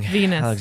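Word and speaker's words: Venis: porno man his name his name rhymes with something that's very obvious it's the obvious joke his his first name is Val Val voluptuous it's like you're not learning anything Venus there it is Val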